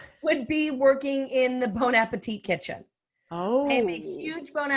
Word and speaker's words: Bon Appetit: And pronounce Bon Appetit? No, I'm from LA. It's Bon Appetit.